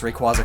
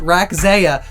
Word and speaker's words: Rayquaza: using your noggin and make sure you always pronounce Rayquaza correctly because for the longest time as a kid I always called it RAC Ziya because I was like 12 and I only ever read the word and no one told